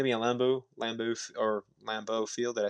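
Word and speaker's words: Lambeau: It's going to be a Lambo Lamboo or Lambo Field.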